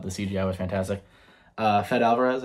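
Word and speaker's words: Fede Álvarez: CGI was fantastic uh fed Alvarez I think his name is the director that's how you pronounce it um I thought he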